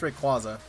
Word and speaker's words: Rayquaza: And even then, it's Rayquaza. Y'all crazy. Oh, come on. There we go. Whoop. Let's see here. Yeah, I've heard people say Rayquaza. No, say Rayquaza. But no, I think it's Rayquaza.